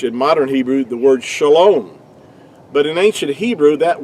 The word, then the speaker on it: shalom: a O, but it's only because of vowel points do we have the O sound. It's pronounced, really, to be more accurately, would be shalom.